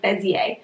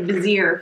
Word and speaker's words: Bezier: game by bezier games which we just learned how to say it's like bezier we've been saying like vizier for far too long silver bullet has quickly